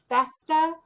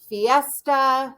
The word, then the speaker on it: Festa: say their name correctly i have a last name of festa and i get fiesta sesta and you know i